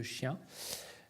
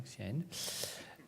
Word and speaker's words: Xi'an: Donc aujourd'hui, si vous allez à la province de Xi'an, ça s'écrit Xi'an, ok, pour Xi'an, ok, voilà, Xi'an.